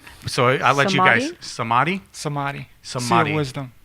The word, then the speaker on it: Samadhi: and I'm probably going to mispronounce it again. So I'll let you guys. Samadhi.